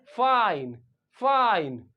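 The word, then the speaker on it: fine: लेकिन अगर आप इसके पीछे क्या जोड़ दें, ई जोड़ दें, तो आई यहां पे क्या निकलेगा, शॉर्ट आई नहीं होगा, क्या होगा, लॉन्ग आई होगा, फाइन फाइन।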